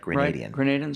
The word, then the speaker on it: Grenadian: the Soviets, I don't even know how to pronounce Grenadian. Is that correct? Grenadian.